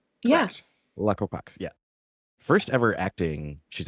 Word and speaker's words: Alaqua Cox: It's Alaqua Cox? Yeah. Alaqua Cox, yeah.